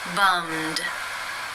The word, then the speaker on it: bummed: The final sound in the infinitive is the m consonant sound. It is voiced. Therefore, it is case 2, and the ed is pronounced as the d. Bummed, bummed. How do you pronounce this sound?